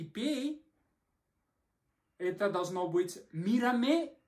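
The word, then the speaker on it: mírame: «смотри на меня и пей», это должно быть «мирамэ» и «бэ-бэ».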